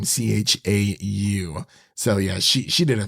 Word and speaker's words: Chau: I believe that's how you pronounce her last name, Chau.